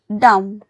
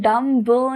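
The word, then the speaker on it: dumb: डी यू एम बी डम। इसको हम डम ब नहीं बोलेंगे। इसे हम बोलेंगे डम। म की आवाज निकालेंगे।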